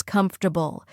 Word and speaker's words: comfortable: This chair is comfortable.